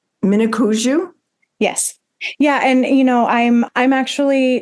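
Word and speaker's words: Minneconjou: Mnicoujou?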